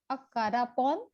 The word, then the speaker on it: Akarapon: Akarapon, am I pronouncing it correctly? Yes, correctly.